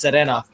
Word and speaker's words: Serena: name is Serena but it's pronounced with a Spanish pronunciation so it's actually pronounced Serena bad you guys will